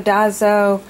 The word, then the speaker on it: Daiso: I've been pronouncing it Daiso, and so I actually went on to YouTube and asked for the pronunciation so that I would say it right, and they say it's Daiso. I think that's correct, but it's the Japanese